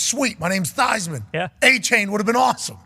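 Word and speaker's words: Achane: saying a chain right it's pronounced Devon a chain with his last name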